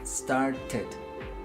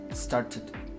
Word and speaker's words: started: Entonces esta E sí la pronunciamos, y entonces intenta pronunciarlo tú ahí en tu casa. Started, ted. Sí, como si dijeras TED, pero la T es un poquito escupida. Started.